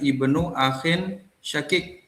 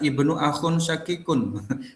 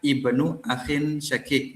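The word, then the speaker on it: ابن أخ شقيق: Kemudian, putra saudara kandung (ibnu akhin shaqiq). Juga, jangan membacanya sebagai Ibnu Akhun Shaqiqun. Anda seharusnya tidak membacanya seperti itu ; Bacalah sebagai ibnu akhin shaqiq.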